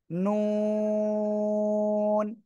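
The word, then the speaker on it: ن: কোন দাঁতের সঙ্গে নয় জিহ্বার আগা তার বরাবর উপরে তালুর সাথে লাগান লাগিয়ে উচ্চারণ করতে হবে কোন দাঁতের সাথে যেন না লাগে নুন নুন ঠিক আছে সবাই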